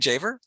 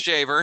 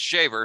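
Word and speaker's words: Dziawer: dz oh so that's that's that's a german polish spelling so that is polish immigrants who uh emigrated to germany before they made their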